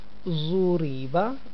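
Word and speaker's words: ضُرِبَ: Zuriba, listen to me once again. Zuriba, this ra is also light because there is a movement below it.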